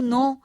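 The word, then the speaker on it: know: कर डालो इसी तरह के एन ओ डब्लू नो यानी जानने का नो हो गया right W आर आई T right का राइट हो गया यानी डब्लू उसमें से निकल गया यानी उसका लोप हो गया यह आदि व्यंजन के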